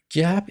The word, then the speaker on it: GAAP: is gaap it's spelled as gaap but we pronounce it gaap so gab is basically the holy book of accountants every